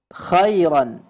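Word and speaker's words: خيرًا: pelafalan huruf ya kemudian pada lafal Khairan ya terdengar seperti Huruf ta yutiguna pelafalan huruf ha juga pada saat membaca kalimat Khairan ya pada saat membaca kalimat khairannya kurang tegas jangan dibaca Kho tapi demikian ini koreksi untuk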